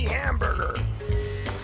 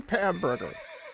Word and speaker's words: Hamburger: So let's meet our groovy new director, Miss Penny Hamburger. What's up, Penny, and welcome to Movie Rap. That's Ms., and it's pronounced Henny Pamburger. Huh? It's pronounced Pamburger, not hamburger.